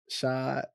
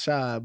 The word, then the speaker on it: Rachaad: So Instagram, Shad. It's Shad, but it's spelled Chad, CHAAD __1.